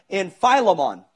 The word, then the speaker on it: Philemon: He says in Philemon, or Philemon, however you want to say it.